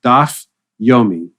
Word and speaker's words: Daf Yomi: It's called Daf Yomi.